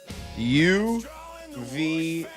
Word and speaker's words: UVU: Two words, yo, u v yo ou. Not not the letters. You have to spell it out, you numb skulls. Yo, u v yo u. There you go. Now you got it. U vu. It's you versus you, baby.